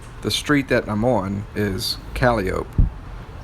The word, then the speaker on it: Calliope: the calio projects the street that namon is caliop it's spelled the same way as calliope but it's